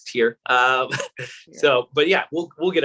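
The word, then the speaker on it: TYR: And thank you for pronouncing it the way we're supposed to, because I've been calling it tire my whole life.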